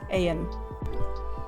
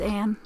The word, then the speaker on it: Ayun: Yeah, no, I just checked the website, as you can see, and yeah, it's Anne, pronounced Anne.